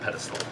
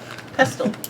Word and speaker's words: pestle: I need a mortar and pedestal. Pestle. Pestle. Bibbles would have had one. I pronounce got the the T back in of pestle?